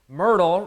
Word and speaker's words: Myrtle: is the Myrtle routine Myrtle rhymes with hip girdle and when I was